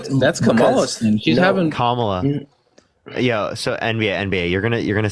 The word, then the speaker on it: Kamala: She's having Kamala.